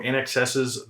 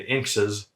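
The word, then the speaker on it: INXS: somebody encounters them so instead of sayed and inks's we have shade and in excess so look for eric's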